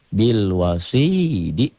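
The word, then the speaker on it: بالوصيد: Jika dihentikan menjadi bil wasid.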